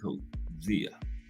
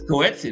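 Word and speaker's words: Coetzee: Holmes and Co Zia measur millions of people pronounce it. I was still saying coetsi during co zia, right? It's coetsi the way it's spelled, but it's cozia.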